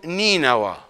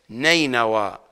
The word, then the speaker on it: نينوى: اثنين كيلو متر تاتي قريه نيناوا بكسر النون وليست نينوى كما تتلفظ نينوى نينوى نينوى قريه قريه